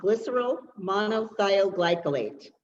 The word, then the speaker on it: glycerol monothioglycolate: I'm going to say it first, then I'll spell it for you. It's called glycerol monothioglycolate, okay?